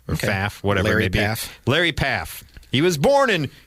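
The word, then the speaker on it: Pfaff: okay by the way he has a silent P it's PF F so PA faf Whatever May lar Larry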